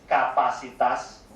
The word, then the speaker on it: kapasitas: And then capacity will pronounce as kapasitas.